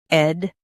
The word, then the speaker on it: education: Both US and UK have the same pronunciation of this word, education. Now read the syllables shown on the screen naturally. Ed, Jew, K. Shun, education. Emphasize K and keep edu smooth.